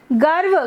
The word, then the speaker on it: गर्व: हाँ, ग, हाँ, व, गर्व, गर्व नहीं, गर्व तो गलत हो जाएगा उच्चारण, पढ़ सही रहे हो लेकिन उच्चारण गलत आ रहा है।